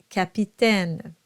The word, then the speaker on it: capitaine: So the first one is an A sound and the second one is an E sound. Why? It's very simple. It's whether or not you have a syllable that follows that AI. So in the first case, you don't, so it's an A, and in the second case, you have that NES, and that will qualify your AI as an E sound.